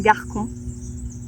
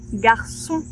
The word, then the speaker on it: garçon: Alors sans la sédille, on dirait Garcon, mais la CDI ici sous le C veut que la prononciation soit garçon.